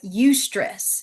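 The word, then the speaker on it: eustress: What we know is that those high standards create that healthy discomfort that as we call it ustress and that's spelled eu s t r e ss that's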